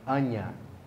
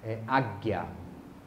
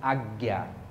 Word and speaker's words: Ajna: Então, o chakra, aqui escreve Ajna, mas a pronúncia é Anya, ou Agya. Né? Depende do sânscrito, né? Essa palavra vem do sânscrito. Meu mestre me ensinou Agya, como Agyana.